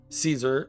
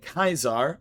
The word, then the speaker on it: Caesar: Caesar or sorry, I'm going to pronounce it the correct way, Kyzar Legion's Emperor.